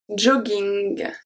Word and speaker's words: jogging: When we have two G in the middle of a word, sometimes it's going to stay as a hard G. Let's see the example and then you will see why.